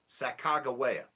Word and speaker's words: Sacagawea: her name for you, Sacagawea. Thank you. It has a g sound in the middle. It's not a soft G with a j. It's a g.